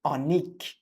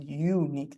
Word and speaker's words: unique: hear is not a we don't pronounce it Anique we pronounce it unique the first sound is